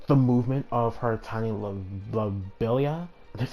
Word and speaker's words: Lobelia: She can control the movement of her tiny lobelia. That's how you pronounce it? Yeah, tiny lobelia.